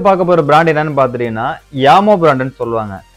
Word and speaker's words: Jamo: நெக்ஸ்ட்டு பார்க்க போகிற பிராண்ட் என்னன்னு பார்த்துட்டிங்கன்னா யாமோ பிராண்டுன்னு சொல்லுவாங்க. இது இங்கே நிறைய பேர் வந்து ஜாமோ அப்படின்னு சொல்லி நம்ம உச்சரிப்பை மாற்றிட்டோம். ஸோ ப்ரொனன்சன் படி இதோட என்னன்னு பார்த்துட்டிங்கன்னா யாமோ அப்படின்னு தான் நம்ம சொல்லுவோம். இந்த யாமோ ஸ்பீக்கரில் 5.1 ஸ்பீக்கர் பாக்கெட் தான் நம்ம எடுத்துருக்குறோம்.